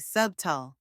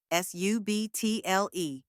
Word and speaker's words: subtle: fine or delicate and in Middle English the B was actually pronounced but over time it became silent just like in debt and doubt some people mistakenly say subal pronouncing the B but